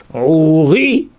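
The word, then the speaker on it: עורי: On a dit, au début c'est Ouri, Déborah. Ouri, Déborah, c'est Milra. L'accent tonique, il est sur la deuxième consonne, le deuxième syllabe.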